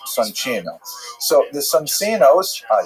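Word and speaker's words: Soncino: I will probably pronounce it sonino because you know I was born in North America but it is uh in situ it would be pronounced sonino.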